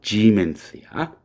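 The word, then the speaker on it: Siemens: 그러니까 S는 지금 발음은 지멘스야. 이거는 우리가 알고 있는 그 지멘스라고 하는 뭐 가전제품도 만들고 그런 회사 그 지멘스야.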